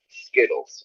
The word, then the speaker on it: Skittles: exactly yourself yeah no no america no american pronounces the tease as teas it's not schizos it's skittles with a d because americans are lazy just